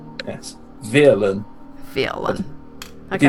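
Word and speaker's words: Vyrlan: If one was to elucidate without an accent, one would spell it with a V, a Y, an R, an L, an A, and an N. In that order.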